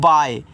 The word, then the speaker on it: bye: BYE, तो इसको पढ़ते हैं बाय। इसको बाय मत पढ़ देना, बाय पढ़ना। लास्ट में जो ए आपका ई आता है, इनका उच्चारण हम नहीं करते हैं, तो आप इसको बाय पढ़ोगे इस तरीके से।